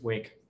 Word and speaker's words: Wic: too hard to remember and too hard to pronounce so let's stay with wick it's used to create a partition image it's